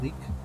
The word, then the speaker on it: lich: Of course, we say we pronounce simply the leak. Pop culture has heard the lich, though.